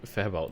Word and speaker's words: Fabwelt: Fabwelt, yeah.